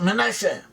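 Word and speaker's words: מנשה: In Hebrew pronounced Manasseh, Ephraim and Manasseh.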